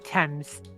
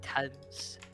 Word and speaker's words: Thames: How do you pronounce it? Thames. Calling it. Thames.